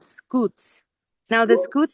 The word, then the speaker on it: scutes: These are called scutes. Now the scutes Scoots.